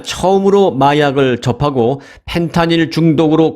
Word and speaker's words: 펜타닐: 펜타닐이라고 발음을 했습니다만 사실 미국에서는 F로 이 발음을 해주세요. 정식 명칭은 펜타닐입니다. 펜타닐. 저는 지금부터 이 F 발음으로 펜타닐로 이름을 부를 테니까 이해해 주시기 바랍니다.